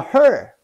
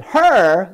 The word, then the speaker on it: He: He is not a her. H-E is actually my last name, the same pronunciation. He. You don't need to roll up your tongue. Just keep it flat. He is her, then you roll up your tongue, right? Like H-E-R. He, her, not her.